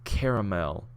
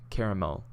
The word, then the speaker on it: caramel: How do you pronounce caramel? Caramel. Caramel. Well, not caramel. Caramel. I use the 3-syllable caramel.